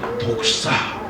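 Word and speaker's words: δόξα: 여러분, 이 영광은 헬라어로 독사, 뭐 이게 뱀이 아니고 발음이 그래요.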